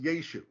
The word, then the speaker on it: Yeshu: start explaining it so Christ's name as we're about to see was yet was pronounced yeshu When It Was Written